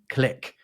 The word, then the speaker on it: clique: To me, it seems like in America, people are more likely to pronounce what I would say as niche and clique as niche and click.